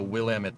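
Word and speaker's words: Willamette: Uh the Willamit Valley. And I'm Yes, I learned how to say that right. My uh my cousin married somebody from Portland, Will Ammit.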